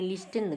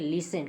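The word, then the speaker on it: listen: जानते नहीं जानेंगे तो इसको बोलेंगे लिस्टन गलत है आपका ठीक है लिसन क्योंकि किसी शब्द का अंतिम अच्छ अगर टेन हो इस प्रकार का तो वहां पे टी साइलेंट हो जाता हो जाता लिसन बन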